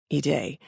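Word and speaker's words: Haydée: her name is spelled h a yde but pronounced eay so if you are American I imagine you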